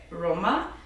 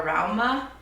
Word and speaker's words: Rauma: So the initial yarn that it calls for is Alpaca by Roma, or Rauma. I've heard it pronounced both ways, but it's using Alpaca by Rauma, and the alternative is using Drops Air.